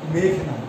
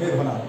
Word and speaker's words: মেঘনাদ: সেখানে আমাদের শিক্ষক উচ্চারণ করতেছেন বিভীষণের প্রতি মেঘনাদ। আসলে উচ্চারণটা আমার কাছে সঠিক মনে হয়, উচ্চারণটা হবে বিভীষণের প্রতি মেঘনাদ।